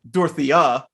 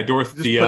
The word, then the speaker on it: Dorothea: could also go with dorothea yeah dorothea emphasis on the end uh okay and then